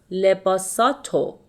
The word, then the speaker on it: لباساتو: And when it comes after a consonant, such as te here, we omit the re sound and we pronounce lebasato. So it will be lebasato, lebasato, خوب.